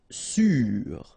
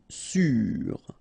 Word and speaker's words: sûr: Sûr. Accent circonflexe on the top of U. Sûr.